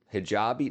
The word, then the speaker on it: hijabi: Hijabi, not hijabi.